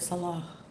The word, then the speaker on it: Salah: babe Salah Salah Salah you have to say it breathy like breathtaking yeah like breathtaking did you say uh with taking who's Sal love no no how you say my name yeah like you the Salah you say it Salah Salah I'm not even I can't even do it hardly cuz in Arabic there's like a pronunciation that's where it's like like a breathy ha ha yeah like I can't